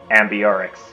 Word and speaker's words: Ambiorix: Okay, so at least now I know what this leader is pronounced like. Ambiorix.